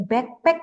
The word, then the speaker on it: backpack: Ini backpack, G, Bapak Ibu bacanya. Backpack, bukan bapak. No, not bapak, this is backpack.